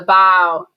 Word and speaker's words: bow: a tour um so the bow which rhymes with Bow Wow and the stern and